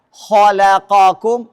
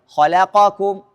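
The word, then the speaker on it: خلقكم: Apalagi mengikhlaskan fathah huruf lam pada kata khalaqokum. Nih baca benarnya khalaqokum. Baca salahnya menjadi khalaqokum.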